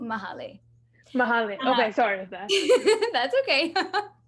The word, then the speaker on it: Mahale: i just wanted to clarify the pronunciation for my name is mahali mahalo okay sorry that's